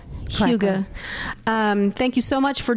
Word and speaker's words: hygge: Which is Hygge, but we're international. We say it. Hygge.